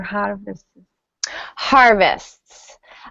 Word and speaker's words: harvests: it was be har harvests Harvesters or harvest harvests um this is a difficult consonant cluster so in in normal speech we probably wouldn't pronounce the T yeah yeah so just